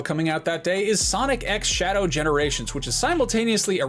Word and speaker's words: Sonic X Shadow: There are a lot of different ways you can pronounce the X in the middle of a title like this, and I'm told that in this case it is Sonic X Shadow, which is maybe